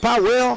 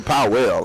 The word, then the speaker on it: Powell: Is it Powell? Because I hear people say Powell, and I'm like, it's Powell to me.